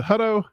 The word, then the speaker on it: Hutto: Chrissy by the way how do you say your last is a hudo I was right if you get on